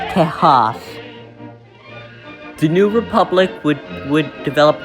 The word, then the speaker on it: Tejas: Texas would be spelled like this and pronounced Tejas.